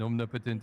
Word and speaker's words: omnipotent: I would just also like to say the emphasis is uh not on the potent and omnipotent. It's it's on the omnipotent omnipotent.